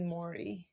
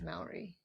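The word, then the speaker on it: Māori: Yeah, and I actually mispronounced, uh, Maori. Yeah. I did Maori. It is Maori. Maori? Ma. Ma? Mhm.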